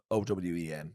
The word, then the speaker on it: Eoin: It's Eoin, but Mm. maybe at work he's like just Owen.